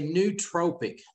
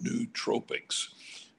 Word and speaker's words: nootropic: So it's a nootropic.